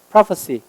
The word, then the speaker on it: prophecy: 그 다음에 명사일 때는 S가 C로 바뀌는데 발음이 prophecy입니다. prophecy. 얘는 prophesy, prophecy.